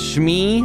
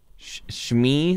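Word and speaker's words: Shmi: of the Clones me I think it's pronounced schmee Skywalker who is that person married to you know that one s h m i shmee Skywalker who is that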